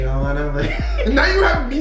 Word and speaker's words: Atlanta: want to blend in, you cannot pronounce the T's. It's a no-no. Alana.